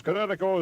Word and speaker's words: Kinetico: Son, you should have remembered kinetic as in kinetic energy with an O on the end. Kinetico.